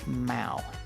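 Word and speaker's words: 猫: rabbits in China or in Chinese they pronounce Mao m-a-o and in Vietnamese the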